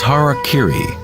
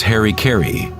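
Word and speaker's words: hara-kiri: one form of ritual suicide or sepu was harak Kiri was often mispronounced as Harry Kerry it means to impale one's Hara thereby cutting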